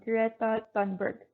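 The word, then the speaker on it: Greta Thunberg: is a very famous greta dunberg in swedish i think it is pronounced i hope i stay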